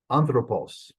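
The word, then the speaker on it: ἄνθρωπος: should be then um anthropos first syllable that's where it's going to be unless the rules make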